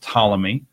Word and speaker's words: Ptolemy: in Egypt you had Ptolemy spelled with a silent P in front just like Poole and it led to